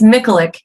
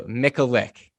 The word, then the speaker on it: Michalik: today i have i i can you pronounce it for me yeah it's it's myclick it's like nickelope but without the alcohol perfect and i should have okay so mick so mickalick yes beautiful okay cool so she is a